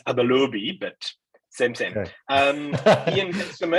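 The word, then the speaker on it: Abalobi: Tell us a bit about the story of Abelobi, and feel free to correct me if I'm mispronouncing Abelobi. Yeah, it's Abelobi, but same.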